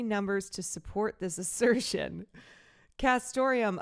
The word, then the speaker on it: castoreum: Castoreum, a classy antique-sounding word jazzed up by its neat near rhyme with Santorum, like Rick Santorum, stands in for all